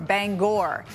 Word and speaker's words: Bangor: all the time is Bangor Maine it rhymes with store Bangor and mainers get really